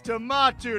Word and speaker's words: Tomato: It's Tomato to you. Now get out of here. What? For mispronouncing your name?